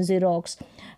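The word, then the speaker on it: xerox: एक्स पढ़ दिया लेकिन बहुत कम स्पेलिंग्स होती है वहां पर ज पढ़ते है जैसे जाइलोफोन जेरोक्स रेयर सी स्पेलिंग होती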